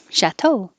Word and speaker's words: chateau: to be shorter Essentials chateau the stress is on the second syllable because it's from French one two chateau biennial can mean every